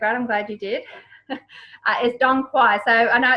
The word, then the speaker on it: Dong Quai: is really great, I'm glad you did, is Dong Quai. So I know it's pronounced, it looks like Tanque, but it's Dong Quai.